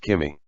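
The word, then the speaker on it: 君: When he says you, he uses the kanji for egg yolk, as both are pronounced kimi.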